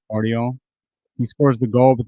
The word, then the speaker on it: Guardiola: is that his name you just don't pronounce the G I guess guardio he scores the goal